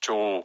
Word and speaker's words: Cho: I should really say Cho. Cho.